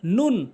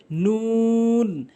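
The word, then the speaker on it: نون: এরপরে নুন ভুল উচ্চারণ, নুন ভুল উচ্চারণ, সঠিক উচ্চারণ হচ্ছে নুন নুন নুন এভাবে উচ্চারণ করবেন।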